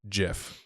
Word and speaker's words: GIF: a Jif of and it was just it's pronounced jiff like that's what it was no that's Jo